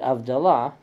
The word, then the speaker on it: Havdalah: In the case of the word Havdalah, the Yanina Jews pronounced it Avdalah, because they didn't have the H.